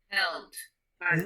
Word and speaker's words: helped: De T, porque la P no suena. Mira. ¿Cómo se pronunciaría en pasado entonces? Helped.